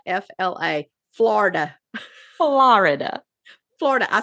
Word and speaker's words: Florida: Yeah, that's Fort Pierce, Florida, and Frostproof, Florida.